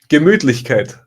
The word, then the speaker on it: Gemütlichkeit: Gemütlichkeit.